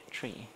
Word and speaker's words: trie: Tree, as in T-R-I-E, tree, mind you.